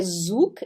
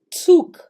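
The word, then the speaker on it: Zug: ficar halo halo Ok o z ele tem som de TS então aqui a gente tem tsc ele não é zuk ele é tsuk tsuk ele tem esse T então tsuk o s se pronuncia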